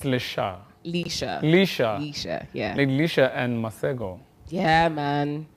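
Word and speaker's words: Leshurr: I don't know if I'll pronounce this right. Lady Leshu... it's Lesha.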